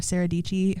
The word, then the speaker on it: Dietschy: And so I think my top two there are Sarah Dietschy, her name rhymes with Peachy, and that's like her